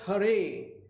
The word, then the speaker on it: Hare: Ginsberg said, he explained that Hare Krishna, pronounced Hare, is the name for Vishnu, a Hindu god, as the bringer of light.